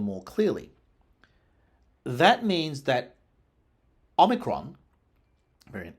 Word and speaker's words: omicron: Moving further on, in America, variant H, omicron, lengthens the initial vowel of the word, omicron. In Anglo-Latin, that is not meant to happen in a third last syllable.